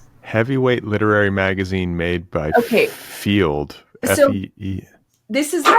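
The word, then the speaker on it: Feeld: Field is spelled F-E-E-L-D, like feel, like sort of like...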